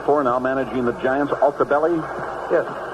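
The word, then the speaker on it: Altobelli: How do you pronounce that fellow's name they played for, now managing the Giants? Altabelli? Yes. Joe Altabelli.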